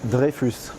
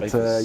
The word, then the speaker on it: Dreyfus: In French, it's Dreyfus, but Dreyfus.